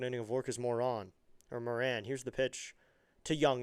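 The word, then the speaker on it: Morán: I'm going to just go with Moran because it's spelled M O R and then there's that fancy line over the A and then a Moran.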